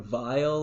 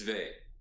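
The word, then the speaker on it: Weil: chapter is from Simone Bay on my favorite philosophers and oh is that how you pronounce that yes I always hear Simone vile or something I know it's vain okay but I wouldn't guess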